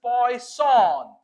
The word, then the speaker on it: Poisson: so first of all this is poon see poon distribution so remember students how to pronunciate poison distribution of course it is derived from French mathematician Simon danis poon this is derived